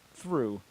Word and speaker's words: through: because only like there are a couple words in English where the GH it's a ooh noise right like it's silent like through right oh yeah as